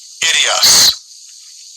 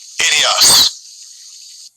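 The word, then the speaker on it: ἴδιος: Idios. Idios. Yeah, and that would be the pronunciation in the Greek for this word own.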